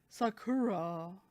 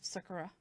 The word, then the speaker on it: Sakura: like in the English one they really like Sakura instead of Sakura different pronunciations make for a very very different think